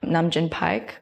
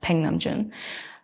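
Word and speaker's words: Nam June Paik: Really, a lot of inspiration came from the Korean American artist Namjoon Paik, well, it's pronounced Peng Namjoon.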